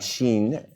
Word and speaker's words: Shein: up yeah so the third story is about sheen sheen sheen how do we pronounce it Sheen and a little fun fact